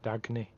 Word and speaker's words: Dagny: I call her Daphne because I can't pronounce Dagny. I was just wondering if it was a weird pronunciation of the spelling. Okay, just Dagny.